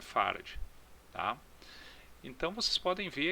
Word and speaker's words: farad: atenção tá pessoal que o d é mudo tá é farad não é farad Apesar de que a